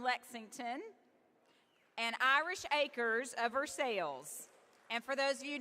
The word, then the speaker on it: Versailles: and Irish Acres of Versailles. And for those of you not from Kentucky, we did not pronounce that wrong. It is Versailles, not Versailles, here in the great Commonwealth.